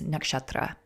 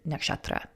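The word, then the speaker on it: नक्षत्र: point out you know you'll hear me say nakshatra you'll hear a lot of other American astrologers say nakshatra the correct pronunciation or the more correct pronunciation I should say is nakshatra okay and so you'll hear me say nakshatra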